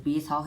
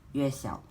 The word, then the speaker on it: Yuexiao: to be the GuoGuan Yuexiao. Now, a lot of people actually call it the GuoGuan Yuexiao, but by right, according to its Chinese pronunciation, it should be called the Yuexiao, not the Yuexiao.